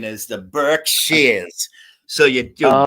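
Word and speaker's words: Berkshires: The Burkshars. No, the correct pronunciation is the Burk Shears.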